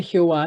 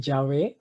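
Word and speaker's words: Yahvé: le explicará a web pero realmente jehová es una de las formas de pronunciarlo pero también se puede decir llave o se puede decir ya web porque no tenemos con seguridad la tradición de cómo se pronuncia otro problema de los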